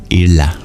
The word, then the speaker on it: Ila: very fun to pronounce that's an l sound pronounced not at your teeth but uh when you curl your tongue back it's the rarest sound in all of Sanskrit the retroflex lateral approximate so I thought that